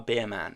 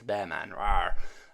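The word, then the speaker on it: Bearman: wall and then OE bman I keep call him Beerman I don't know why I keep call him Beerman he's not a Beerman it's B man um only bman bman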